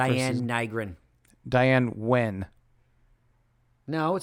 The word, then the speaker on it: Nguyen: Diane Wen. No, it says Diane Nygren. It's Nguyen. It's Wen. It's an Asian thing. That's not Nygren? Wen. They pronounce it Wen.